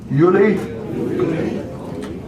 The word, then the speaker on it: Juli: June is uni uni J is not pronounced J is pronounced like we pronounce a why juuli is juli August is a August